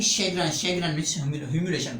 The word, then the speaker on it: chagrin: We will move on another word से शैग्रन, इसकी इसकी प्रोनाउंसिएशन होगी शैग्रन।